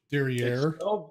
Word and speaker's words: Darien: They don't call it Darien up here. They call it Darien. Derriere. It's spelled the same way as Darien back by you guys, but it's called Darien, which I don't know why it's called Darien when it's IEN. Makes it sound exotic.